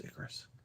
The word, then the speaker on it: Icarus: Oh it is Icarus.